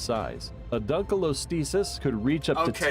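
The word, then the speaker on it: Dunkleosteus: A dunalostis could reach up to Okay, dunalostasis. That is a butcher pronunciation. You you had an acceptable one in the beginning and now you have dunalostesis. You're you're putting letters in there that don't exist.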